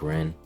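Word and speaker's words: Renne: Apparently in the voice acting it's pronounced more like Ren.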